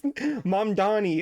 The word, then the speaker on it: Mamdani: Is It's only these old white dudes who have a problem saying it's Mamdani.